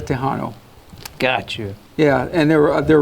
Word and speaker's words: Tejano: And what's unique also too is the word Tejano means, for example, in Spanish, Texas is pronounced Tejas in Spanish. Okay. Mexican is pronounced Mexicano. And you combine both words is a Tejano.